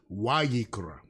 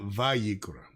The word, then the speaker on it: Vayikra: But it's actually a W. So, this is really wikra, right? Not vikra. Um, so yeah. So it's the way we pron pronounce it would be wikra not vikra right but nevertheless I